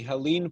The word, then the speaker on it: Helene: can learn more about Ellen at her website which I'll I'll say it phonetically Helene comm H is silent or you can go